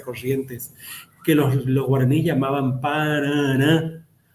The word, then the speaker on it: Paraná: Pero como ese sonido que tiene que ver con cierta guturalidad y nasalidad, paraná, era difícil para el español, el español es abierto, entonces pronunciaba Paraná, y ahí quedó el sonido y ahí la denominación de la actual denominación del río, que es Paraná, que no tiene otra